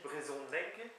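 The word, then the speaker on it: brezhoneg: parler breton ou chose c'est brzonc brzong pardon mais ça s'écrit brzonc mais ça se dit Braison neg euh très important je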